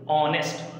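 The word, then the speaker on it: honest: Pronunciation भी, ऑनेस्ट, starting H से हो रहा है, ऑनेस्ट, एम्प्टी, पी है लेकिन उसका साउंड ही नहीं है, मतलब समझ लो।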